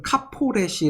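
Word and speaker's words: כַּפֹּרֶת: 하는 것입니다 워너 적으로 히브리어로 보면 것은 카 포 레 시 라고 발음을 하는데 카포 레슨 문자 그대로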